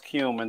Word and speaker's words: cumin: cumin here all right it is pronounced cumin don't get cute this is a family show okay next we've got